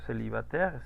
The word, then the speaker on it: célibataire: Bueno, vamos a ver otro caso con, por ejemplo, célibataire, soltero. Célibataire, ahí está, célibataire. Aquí está el mismo diptongo. ¿Cómo lo pronuncié? Como una E. Célibataire.